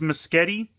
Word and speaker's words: Musketty: how you pronounce it I think it's miss Getty like it rhymes with spaghetti which kind of just